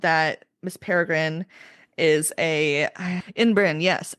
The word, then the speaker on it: Ymbryne: Um, we also find out that Miss Peregrine is a inbrin, yes, an inbrin, which is spelled very Welsh, Ymbrynes.